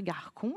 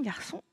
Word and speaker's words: garçon: La cédille me permet de transformer la lettre C de façon à pouvoir faire le son S, puisqu'après, j'ai un O, donc normalement, ça devrait faire garcon.